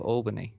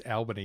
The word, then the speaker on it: Albany: What an interesting pronunciation of Albany. Oh, it's Albany, mate. We're in WA now. Is it? Yeah. Ah. We always know when you're not from WA when you call it Albany because we call it Albany.